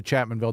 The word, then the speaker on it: Chapmanville: And and keep in mind before you go to Chapmanville, there's no S in Chapmanville.